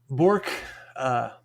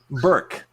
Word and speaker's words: Burke: He says that Bork, that seems like an incorrect pronunciation. Bork. That's what Swedish dogs say. Burke.